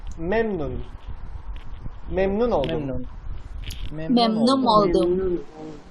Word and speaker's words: memnun: the main thing about this this pronunciation is the stress. If you stress it correctly, you can easily pronounce it. The stress starts Memnun. in the first syllables. Memnun.